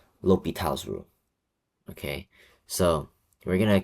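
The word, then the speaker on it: L'Hôpital: So, this is what we have, L'Hopital's rule. Now, remember, this is pronounced as L'Hopital. It's not La Hospital, it's not anything like that.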